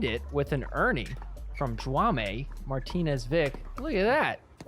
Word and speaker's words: Jaume: Can we get some clarification on how to pronounce this guy's name? Jaume.